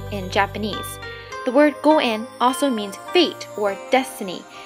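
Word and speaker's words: 五円: The most preferable amount to offer is 5 yen, which is pronounced goen in Japanese. The word goen also means fate or destiny.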